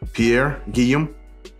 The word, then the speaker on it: Pierre Guillaume: out of it opens up has his name pierre giam that's how you say it all right i'm